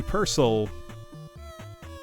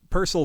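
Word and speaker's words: Purcell: laid in Earth Yep purcel is always how I've heard it pronounced son but the tune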